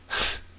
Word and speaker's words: Linux: no real progress anywhere Lee nukes I still find that funny even though that is closer to how it's pronounced than what I'm saying actually it is how it's pronounced right Linux Linux I'll just say